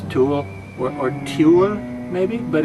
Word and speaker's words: Tule: This, sports fans, is the Tule monster. Now that's not T-O-O-L-Y, meaning he's like a tool. No, that's T-U-L-E. Looks like it would be pronounced Tule or Tule, maybe, but it's just Tule, T-U-L-E, the Tule monster.